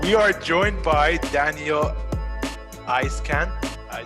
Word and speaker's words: Eiskant: 75 75 and we are joined by daniel ice can i say that right now you got it